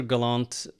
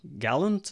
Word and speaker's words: Gallant: is galant or gallant or I answer to practically anything but uh Galant is the most common pronunciation.